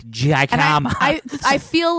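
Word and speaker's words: jícama: Dude, Jicama tacos.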